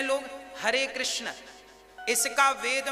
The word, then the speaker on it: कृष्ण: वेद मंत्र है ये शुद्ध उच्चारण इसका क्या है हरे राम हरे राम राम राम हरे हरे हरे कृष्ण हरे कृष्ण कृष्ण कृष्ण हरे हरे यह वेद मंत्र बोल